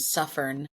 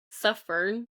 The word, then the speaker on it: Suffern: My I grew up in a town named Suffern. Suffern with like suffer with an N at the end.